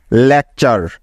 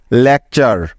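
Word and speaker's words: lecture: word pattern তৈরি করে যার উচ্চারণ সবসময় হবে চার এর মত কি মনে থাকবে তো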